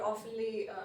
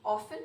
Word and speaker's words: often: Okay, a few words that are oftenly misspoken would be communication. People say communication sometimes, so it's communication. Second, often, it's often and often.